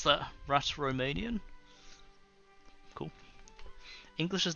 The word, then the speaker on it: Romansh: So the pronunciation is this? Romansh.